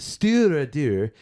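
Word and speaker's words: Stiùireadair: and this is the Stewardeur. Stir. I know I'm making that sound kind of French, but Stop moving. You just stir it there. Stewardeur. All right. Pronounced Stewardeur.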